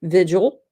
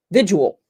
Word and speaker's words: vigil: say it different to some people it's a two- syllable word vigil and to some people with my accent it becomes a three- syllable word visual anyhow you know what